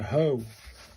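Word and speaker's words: ほ: This one is pronounced uh H pronounced like the H O in home. So, it's a hoe.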